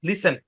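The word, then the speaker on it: listen: কথা মনোযোগ দিয়ে শুনুন লিসেন টি টা সাইলেন্ট কিভাবে এস টি ই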